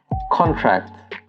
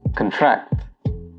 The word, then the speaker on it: contract: The noun usually has the stress on the first syllable, while the verb has the stress on the second syllable. So examples would be present and present, contract and contract, object and object.